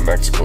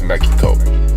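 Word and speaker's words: México: a bunker in Mexico that's that's actually how you say it it's not Mexico it's Mexico for y'all who don't know I learned that from my South American friends Sadam Hussein Hussein was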